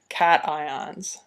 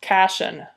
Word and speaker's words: cations: charged ions are called cations so let me differentiate this for you we'll draw a line across here these are cations they're not pronounced cachin they're cat ions these guys down here